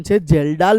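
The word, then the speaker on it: Kjeldahl: आ पद्धति न नाम जेल डाल पद्धति इंग्लिश नाम बहु स्पेलिंग जोरदार हो के जेडल के साइलेंट होय याद राखो नॉलेज माटे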